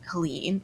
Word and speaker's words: Helene: to say Helen because people read it as Helen even though it's Helene. It's like Helen with an E at the end.